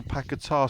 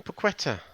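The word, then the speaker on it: Paquetá: midfielder out there yeah I see the announcer got his name wrong well yeah it's um I was I was with him um Friday night actually he called him paquetta yeah did you hear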